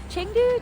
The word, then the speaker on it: Chengdu: Changdu. Changdu. Changdu is how the locals say it.